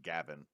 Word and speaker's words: Gawain: little OC Lancelot or Galahad or gawaine which might actually supposed to be pronounced Gavin or ivane which also might be pronounced Evan again Welsh is weird um everybody adds their